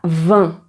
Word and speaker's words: vin: Alors, ensuite, on a 20 et là tu as le son 1. Donc si tu le prononces, tu vas voir que tu sens quelque chose ici parce que le son passe dans le nez. 1. C'est comme si tu étais enrumé, on va dire.